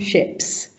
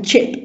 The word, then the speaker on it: chip: And in French people find the CH very impossible to pronounce. My mother still calls a chip a ship. Okay. It's a hard sound.